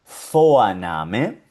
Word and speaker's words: Vorname: En alemán siempre va a sonar como una F. Y aquí la vemos en varios ejemplos. Por ejemplo, esta palabrita suena Vorname.